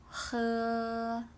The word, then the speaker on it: 喝: Think about this song and then think about the tone. 喝, right?